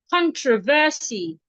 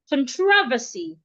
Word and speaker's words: controversy: It is either you stress the con, controversy, or you stress the tro, controversy.